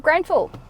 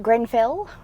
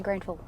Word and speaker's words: Grenfell: So that is the main street of Granville or how do you pronounce it? Grenfell. I say Granful. Depends. Say it however you want.